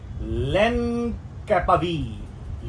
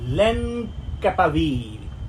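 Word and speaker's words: lenacapavir: तो जब यह वैक्सीन आ गई नाम है उसका लेन कैपवीर लेन कैपवीर। ठीक? तो इसको दो तरह से प्रोनाउंस किया जाता है। कई लोग इसको लेन कैपवीर कह रहे हैं।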